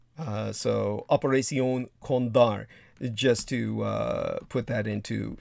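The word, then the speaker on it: Operación Cóndor: And by the way, in the Espanol, it would properly be pronounced something like Operación Condor or Condar. So Operación Condar, just to put that into some perspective.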